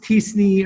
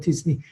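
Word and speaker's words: t-SNE: It's pronounced TSNE. I mean, some people call it TSNE or TSNE.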